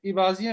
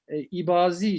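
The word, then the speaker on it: İbadiye: şimdi ibadiye mezhebi bak Farklı kaynaklarda bazen Eba diye bir katil gibi Elif Elif'in Üstün okunmasıyla bazen de ibadiye şeklinde telaffuzu tarih boyunca söz konusu olmuştur özellikle meşarik A dediğimiz Doğu bloğu ibadiler de ibazi şekline bazı şeklinde telaffuz daha yoğun bir şekilde olmuştur Abdullah Beni bazen üretemeyen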